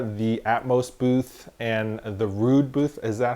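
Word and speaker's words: Rhude: of people there, the Atmos booth, and the Rude booth. Is that how you say it? Rude?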